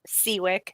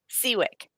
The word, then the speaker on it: Siwiec: is your last name it's seawick nothing like it's spelled so don't okay don't